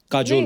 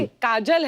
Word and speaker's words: काजोल: बड़ा यूनिक नाम है आपका, काजोल। काजल है ना, but काजल होता है, काजोल हाँ, मतलब बंगाली में spelling है, काजोल। बंगाली में ऐसे बंगाली में लिखते हैं। ऐसे उसका प्रोनाउंसिएशन है पर सर।